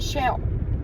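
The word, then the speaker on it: shale: But it's got S-H-A-L-E on it. Shell. Okay? So it's not like shell, like S-H-E-L-L. But it's pronounced the same.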